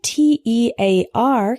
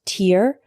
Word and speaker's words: tear: washing them separate separate the word t-e-a-r can be pronounced tear or tear the word tear is